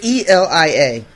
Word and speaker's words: Elia: trying to find it i can't remember how it's spelled it's e-l-i-a elia elia that's right yeah okay uh from